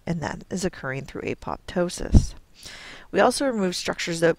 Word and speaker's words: apoptosis: where we talk about apoptosis and cell survival so what is apoptosis and you may have heard it referred to as apotosis it's just a regional difference in how you pronounce it um apoptosis is known